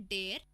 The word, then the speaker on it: der: सो हम मेल को बोलते हैं डेयर, फीमेल को बोलते हैं डी एंड न्यूट्रल को बोलते हैं दास.